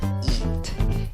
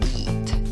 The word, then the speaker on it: eat: Escribes con 3 letras esta palabra y la pronuncias con 2 sonidos. La escritura va una E y una A. En la pronunciación no necesitas esos sonidos. Tienes el sonido de una I larga, representada según el diccionario Merriam-Webster por una E con el sombrerito. La E con el sombrerito suena I.